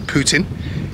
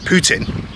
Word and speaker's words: Putin: And that's because the French, although in England we pronounce his name Putin, the French pronounce it Putin. The only problem with that is that Putin, although spelled differently, is exactly the same pronunciation as a very strong French swear word.